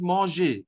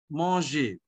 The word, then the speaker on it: manger: Okay, so we pronounce it as manger, M-A-N-G-E-R, manger.